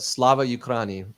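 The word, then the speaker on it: Слава Україні: Now, I haven't said this publicly for fear of pronouncing it incorrectly, but Slava Ukraini, correct?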